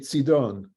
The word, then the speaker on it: Sidon: treated Paul kindly in cedon or how do you pronounce that David in in Hebrew would be sidon sidon is that North